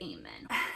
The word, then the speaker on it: amen: A is an open syllable that allows it to say its name. A. The e here as isn't actually making the a say a. The e is just in men. That's why it's not silent.